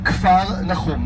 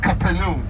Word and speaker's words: Kfar Nahum: We are going to Kfar Nahum. Now you know the name Capernaum.